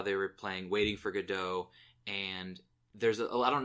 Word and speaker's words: Godot: all but the there's a lot of discussion and debate about how it's pronounced if it's Waiting for Godot or Gatto but he pronounced it it was like got it Godot or something along those lines which was kind of funny because that's one of the pronunciations that's nowhere in that discussion but the the actor